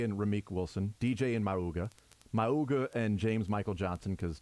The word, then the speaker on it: Mauga: You say his name like a cartoon. Mauga. Yeah. I thought it was Mauga. Yeah, I kind of always you add a syllable that makes it I like sounds adding like syllables.